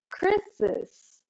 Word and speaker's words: Chris's: And instead of Chris, one syllable turns into two syllables, Chris's dad.